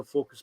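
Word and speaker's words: Fookos: it's f-o-o-k-o-s is how focused spelled the company it's pronounced focus but um as in as in be focused on something but it's actually spelled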